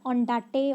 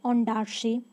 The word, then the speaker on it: Ondaatje: It is not Ondate or something else. We will pronounce it Ondaatje. This is the correct pronunciation of Michael Ondaatje.